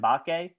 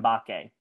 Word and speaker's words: Mbake: We've been calling him Sam Mbake. Apparently the M is silent. Apparently it's just Sam Mbake.